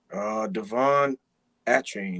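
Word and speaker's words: De'Von Achane: Pronounce that name for me again, Texas A&M. Devon Achane.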